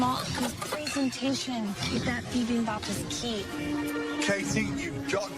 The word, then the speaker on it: bibimbap: Bibimbap.